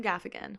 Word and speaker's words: Gaffigan: do you say his last name gaffan Jim Gaffigan woo woo but for now we have a